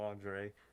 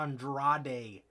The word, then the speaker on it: Andrade: No, none of the announcers except for Excalibur can pronounce right. Andrade. Andrade, It's not really, Andre. you don't have to say it in this, Mexican pronunciation. You don't have to say Andrade. Just say Andrade. And they can't. They just can't fucking say Andrade. Just say Andrade. Not Andre.